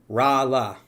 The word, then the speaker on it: Rolla: pronounced, I know everyone keeps telling me, my bad. Rala.